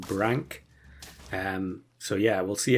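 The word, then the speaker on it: nudibranch: play this pet and everyone is pronouncing it nud Branch um which is understandable because that's probably what you would expect looking at the spelling having watched some nature videos it does seem to be that it is pronounced Brank um so yeah we'll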